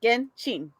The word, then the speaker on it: Genshin: No, you put it like Genshin. Like she. Yeah, but say it like because I think it comes. Correct me if I'm wrong, chat, but I think it comes from Japanese, and in Japanese it would be Genshin.